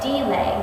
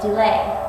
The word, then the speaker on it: delay: can check on there you do not say delay you say delay with the accent on the second syllable so since our meter